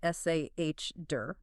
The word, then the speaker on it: solder: Like, when you melt a metal alloy to join surfaces together, it's spelled s o l d e r, but pronounced s a h der.